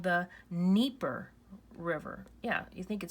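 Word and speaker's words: Dnieper: pronunciation it's called the nipper River yeah you think it starts with an N but it's actually starts with a D and it's pronounced the nipper River you don't pronounce the D this is a major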